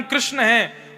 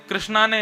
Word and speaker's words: कृष्ण: मैं अपनी कथा में कहा करता हूं, जो लोग महामंत्र गलत उच्चारण करते हैं, हरे कृष्णा कृष्णा कृष्णा हरे हरे, और जो लोग कहते हैं कृष्णा ने ऐसा किया, कृष्णा ने ऐसा किया, या भजन गाते हैं तो उसमें भी कृष्ण को कृष्णा बोलते हैं,